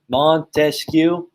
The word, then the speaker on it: Montesquieu: good job so montesquieu remember how we broke it up montesquiou okay three syllables right three uh three